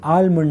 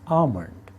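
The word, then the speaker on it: almond: जाता है बादाम आमलमंड याद रखिए यह आलमंड नहीं है इसमें एल साइलेंट है और यह बोला जाता है आमलंड आमलंड काजू काजू को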